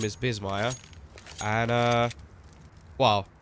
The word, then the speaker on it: Bissmire: my second name is Bissmire. And, well, I would have put Biss, like with S, but then people would have said Biss. So I changed it to Z so they pronounce it properly.